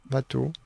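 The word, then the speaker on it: Watteau: fascinante cette dégringolade d'elour on prononce vateau bah je crois un docteur W j'ai appris comme ça moi vateau il y a les Watou Watou et il y a vateà ça n'a aucun rapport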